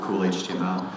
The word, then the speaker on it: KHTML: environment HTML rights over k HTML you have to pronounce it cool HTML raise your hand here